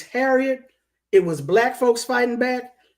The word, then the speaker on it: Harriott: It's spelled Harriott, Harriet II. So it's not the same spelling, but it's Harriet.